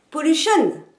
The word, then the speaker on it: pollution: par exemple pruche varens le geste permet de placer l'accentuation des mots en anglais on jette pour le chemin avec le geste et l'accent sur la deuxième syllabe et non pas sur la troisième homme comme en français ce qui ferait pollution